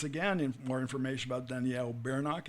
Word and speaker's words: Bernock: It's Bernock. Many people would spell it B-U-R, but it's Bernock.